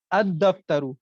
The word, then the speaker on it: الدفتر: اور لام کا الگ سے اظہار نہیں ہو رہا ہے، لام کا تلفظ نہیں ہو رہا ہے، بلکہ وہ کیا ہو گیا، وہ دال میں مدغم ہو گیا، دال میں مدغم یعنی مرج ہو گیا.